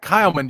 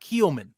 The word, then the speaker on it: Kyleman: It's Kyleman. Yes, it doesn't. It's phonetically wrong, but that is how you say it. It's not Keelman. Don't say Keelman, please.